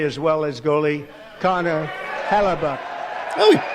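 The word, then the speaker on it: Hellebuyck: a goalender play as well as goalie Connor Halabach. Oh, he pronounced it correctly.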